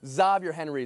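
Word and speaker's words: Xavier Henry: Zavier Henry is how he pronounces his name.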